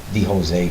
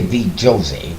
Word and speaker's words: VJose: I used to say the Jose for ET all the time. But now I say VJose because that's the proper way to pronounce my middle name.